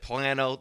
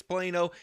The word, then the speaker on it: Plano: Some people pronounce it Plano. They're totally wrong and ridiculous. Trust me, it's Plano.